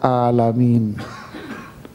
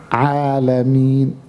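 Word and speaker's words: العالمين: Anda baca alamin, sedangkan bacaannya alamin. Kalau alamin itu artinya alam semesta.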